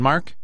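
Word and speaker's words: 妈: the tone Mark yes the first tone is a flat tone and the tone Mark is the straight line it's almost like you're saying you pronounce words that have this tone in a high steady voice for example ma ma this word means mother you can input the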